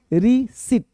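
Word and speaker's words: receipt: ध्यान देना बिल प्राप्ति अब रिसीप्ट बोलना क्या है भाई? गलत है। रिसीप्ट नहीं रिसीप्ट बोलेंगे। क्या बोलेंगे? रिसीट। रिसीट में पी क्या हो रहा है?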